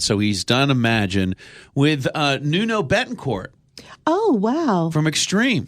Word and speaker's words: Nuno: actually adding Nuno, how do you pronounce it? Nuno. Nuno.